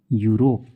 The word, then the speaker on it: Europe: जैसे कि देखिए EUROPE है तो हम क्या पढ़ें, EU को यू, तो ये हो गया यूरोप।